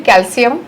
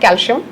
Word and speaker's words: कैल्शियम: अब कैल्शियम कैल्शियम बोल के इतनी आदत हो गई है कि मुझे एक और बात बतानी थी कि कैल्शियम का pronunciation is actually कैल्शियम एंड नॉट कैल्शियम।